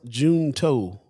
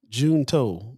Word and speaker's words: Junto: pops in the chat says pronounce june toe june toe benjamin franklin had the